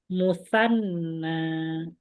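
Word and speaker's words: مثنى: Musanna. Ya, bacanya musanna.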